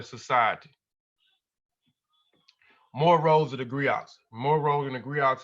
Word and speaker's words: griot: The griots, pronounced griots, have been referred to